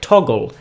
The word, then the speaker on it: Toggl: I recommend using a software like Toggle. It's spelled Toggl.